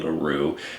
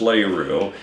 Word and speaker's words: LaRue: The correct pronunciation is probably LaRue, but if you're from LaRue, it's LaRue, and it's in the